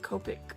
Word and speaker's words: Copic: has me purchasing those Copic is how you pronounce it Copic markers that are like